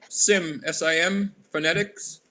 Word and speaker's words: Tsimshian: the triumphs it it's sim phonetics as the t is dropped or silent do you know what